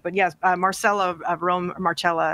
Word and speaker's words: Marcella: But yes, Marcella of Rome, Marcella actually is how you pronounce it.